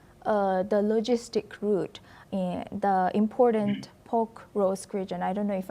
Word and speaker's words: Pokrovsk: Russia on Pokrovsk, the logistic route, the important Pokrovsk region? I don't know if I'm pronouncing it correctly. Yeah, Pokrovsk.